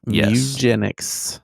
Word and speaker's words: Mugenics: Mu. Mu as in a cat. Mugenics.